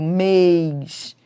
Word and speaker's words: mês: Mês tem timbre fechado, mês. Fé tem timbre aberto, mas ambas são tônicas, porque são fortes.